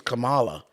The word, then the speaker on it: Kamala: nothing else to talk about her name is Camala see the fact that you even called her